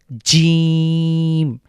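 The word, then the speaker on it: جيم: এরপরে হলো সার পরে যে লেটার এটা হলো জিম। জিমটাকে আমরা বাংলার দাতব্য বর্ণ। এটা তালব্য বর্ণ বলতে পারি। অর্থাৎ আমাদের জীভের জীভের যে মাঝখানটা সেটা উপরের তালুর সাথে লাগবে। বাংলার যে জ রয়েছে ঠিক সেরকমই বলতে পারি।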